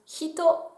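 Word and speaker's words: 人: Et on va commencer tout de suite avec le kanji qui représente une personne humaine qui se prononce hito, qui a d'autres lectures également.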